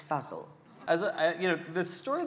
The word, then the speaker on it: Fazal: is of her co-star Ali Fazal am i pronouncing that right Anna Fuzzle puzzle I've been saying for zal until about three days ago when he's good acting it's puzzle as you know this story this relationship is